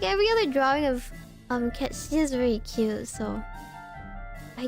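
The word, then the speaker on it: Cait Sith: But like every other drawing of Ketchi is very cute, so I do put him high because he's a cat. It's pronounced Kate Sith in the Rebirth.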